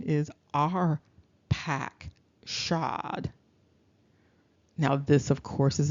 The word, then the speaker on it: Arphaxad: you might even see it immediately that the pronunciation is our pack shod now this of course is important because when